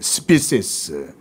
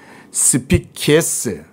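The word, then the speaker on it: species: 종류들, 스피시스, 죄송합니다. 스피키에스, 이건 라틴어니까 스피키에스라고 읽어야 돼요.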